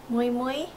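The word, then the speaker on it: Miu Miu: After that, I looked at other stores such as Moi Moi, I think that's how you pronounce it, the M-I-U-M-I-U.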